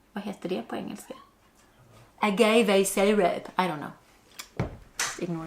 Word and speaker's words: agave: Agave? Agobo? Google it. You have Google it. Wait, can we put that in? Like, agave syrup. That's how to say it.